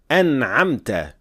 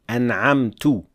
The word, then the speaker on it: أنعمت: For the word an'amta, pay attention not to say an'amtu with dhamma because it completely changes the meaning as well.